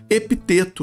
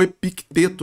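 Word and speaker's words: Epicteto: sobre o filósofo histórico epiteto né ou epiteto né como alguns pronunciam e só essa postagem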